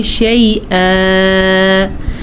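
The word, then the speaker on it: شَيْئًا: شیئا یہ 2 زبر جو ہیں یہ 1 الف بن جاتا ہے، اسی لیے اس کو پڑھیں گے شیئا.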